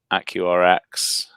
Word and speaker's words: AccuRx: We say AccuRx, but we're not too offended if people say AccuRx.